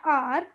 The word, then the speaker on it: hour: finish its food why because uh R when we pronunciate R it sounds to start with a that is why we will put n before it okay now tell me